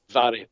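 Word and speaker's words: Mhairi: and I believe that's Mary, correct? Is that how you pronounce it? It's Vary. It's Vary. Vary, okay. Vary. MH in the Gaelic is pronounced V.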